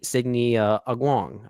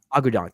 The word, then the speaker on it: Agudong: do think Nani here acknowledges, played by Signy Agwong. I don't know if I'm pronouncing her name right, but Agudong, thank you.